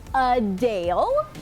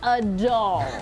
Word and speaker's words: Adele: after this video drops some Publications have been printing phonetic pronunciations as a Dale but you're right she kind of says a doll maybe it's a Brit thing for example I was